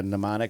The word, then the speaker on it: Mnemonic: Like a mnemonic device. Yeah, but it's spelled M-N-E.